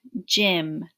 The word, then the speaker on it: gym: This Y sounds like I, so that's different. J, im, gym, gym.